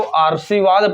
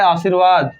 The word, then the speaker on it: आशीर्वाद: उड़ेगा यहां पर उड़ेगा तो आर्शीवाद पढ़ा जाएगा लेकिन आपको पढ़ना है आशीर्वाद तो व पर उड़ाना